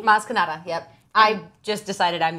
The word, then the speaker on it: Maz Kanata: Did I pronounce it correctly? Maz Kanata, yep.